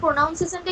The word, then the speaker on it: pronunciation: PRONUN, NOUN নেই, PRONUNCIATION, প্রোনাউন্সিয়েশন। প্রোনাউন্সিয়েশন। Noun পাচ্ছ কোথায় তুমি? স্যার, প্রোনাউন বললাম। প্রোনাউন কোথায় আছে? প্রোনাউন তো পার্টস অফ স্পিচ। হ্যাঁ। নাউন একটা পার্টস অফ স্পিচ। কথাটা প্রোনাউন্সিয়েশন, NUN।